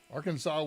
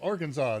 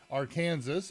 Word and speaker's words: Arkansas: 11th of 1836 and its pronunciation was not finally and legally settled until 41 and4 45 years later when it became Arkansas there were people calling it Aransas and people calling it Arkansas all throughout and their state legislature